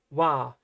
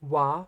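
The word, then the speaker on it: は: Notice Wah looks like ha, but it's pronounced wah, and it's only ever pronounced wah when it's used as a particle.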